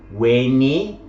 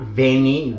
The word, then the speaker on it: Veni: Okay, you can see that they show the classical pronunciation. Weni, Widi, Wiki, not Veni, Vidi, Vici, as would have been the later pronunciation.